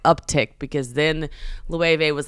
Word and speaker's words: Loewe: So Loewe, Loewe. Yeah, I said it wrong. I was like, oops, Loewe.